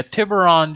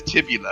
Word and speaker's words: Tibula: there attacking them yeah tiburon did take a sweet time that's fair every time you said his name wrong every fight got a little harder his name is tibula it's one of the